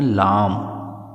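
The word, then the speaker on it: लं: पर लिखा हुआ है ला और अंकी बिंदी इसको बोलते हैं लाम उस बीज मंत्र का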